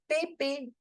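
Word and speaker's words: mémé: there on the E accent towards right then we have to make the sound of a so there are two accents so we will pronounce it as P Papi pep momy M and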